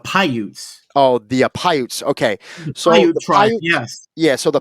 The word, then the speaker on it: Paiute: And is this pronounced correctly? The Piautes? Oh, that it's the Paiutes.